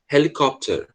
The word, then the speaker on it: helicopter: aqui no começo tá ele vai ser pronunciado com som dr tá harry potter como se você tivesse soprando mesmo tá helicopter nada de helicóptero tá certo é helicóptero